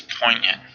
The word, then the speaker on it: poignant: Our next word is poignant, and this is an adjective. Now this one, the G in this one is silent, sort of like the way a G is silent in the word gnaw, Gnaw.